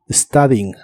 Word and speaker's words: studying: studying que significa estudiando la u de esta palabra se pronuncia como una a studying studing y usaremos el